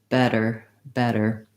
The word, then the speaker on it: better: your flap er der better these words are all stressed on the first syllable so the vowel and the first syllable is long and then our der